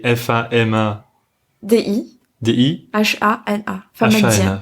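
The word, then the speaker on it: famadihana: Oh ouais, donc on dit Famadienne, donc ça s'écrit F-A-M-A-D-I. D-I. H-A-N-A. Famadiana. Famadiana.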